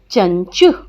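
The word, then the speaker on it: चञ्चु: चंचु का उच्चारण करते हैं तो अनुस्वार के स्थान पे आधा य, पंचम वर्ण का जब हम अनुस्वार से पंचम वर्ण में बदलते हैं ना, तो वो वर्ण आधा लिखा जाता है। यहाँ पे इया का उच्चारण आ रहा है चंचु में, इसलिए जब चंचु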